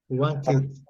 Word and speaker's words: wanted: Então, observe bem, se o verbo terminar com T ou com D, aí você tem que acrescentar uma sílaba. Wanted, Wanted.